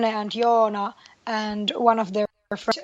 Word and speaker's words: Joona: I'm sorry, forgive my mispronunciation. Is it Janne? Janne. Jan. Sorry. Yes. It's okay, but it's Janne, Joona, Juuso.